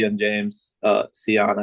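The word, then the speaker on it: Sion: C and James uh Seion I believe is how you pronounce it.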